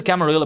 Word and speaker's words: Camarilla: the Justicar of the Camarilla, the Camaria, however you want to say it. I mostly go for the Camarilla pronunciation because from what I understand, it has an Italian origin.